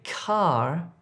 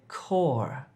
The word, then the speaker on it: core: Don't say car if you're trying to say core.